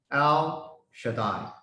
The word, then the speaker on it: El Shaddai: It pronounced from the right to the left. El Shaddai.